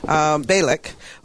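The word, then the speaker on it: Bialek: Balak.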